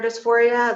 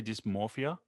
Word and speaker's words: dysphoria: My earliest memories in life were that of gender dysphoria. Like I remember being in preschool. Wait, did I even say it wrong? It's dysphoria. Did I say dysmorphia? It's dysphoria. Yeah.